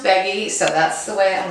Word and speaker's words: Beaggi: ve a Gigi I so Andrey says it's pronounced Peggy so that's the way